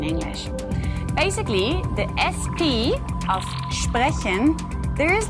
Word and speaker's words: sprechen: This one is about the sound of ST and SP in German. It's a very easy rule, but still, I hear a lot of people making mistakes when they pronounce the following words in German. So this is why it's still a very important rule. As an example, we have the words sprechen and Stadt.